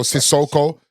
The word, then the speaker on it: Sissoko: No, not Sacco. Sissoko. Sissoko, spelled with a C.